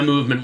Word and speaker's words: MVMT: But I do trust my movement watch. Movement watches, pronounced very coolly, very few vowels used in that.